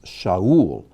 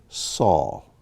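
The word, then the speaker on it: שאול: the v sound so this is sha ul or we would say saul but in hebrew sha'ul this is my favorite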